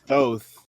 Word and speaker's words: Thoth: So, by the way, it's pronounced Thoth.